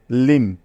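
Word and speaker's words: limb: পড়া যাবে না অর্থাৎ বি এর কোন উচ্চারণ হবে না এখানে তাইতো সুতরাং ল ইকার মদের কে একত্রে যোগ করলে হয়ে যাবে লিম লিম ঠিক আছে কোনভাবেই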